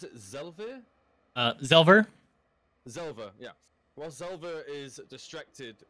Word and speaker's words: Zheilver: Whilst, how do you pronounce it? Zheilver? Zheilver, yeah.